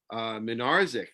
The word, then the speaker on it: Minarzik: And we have an update on one of the drugstores that we profiled, Minarzik. That I found out that's how you pronounce it, Minarzik. I was saying Minarchik last week.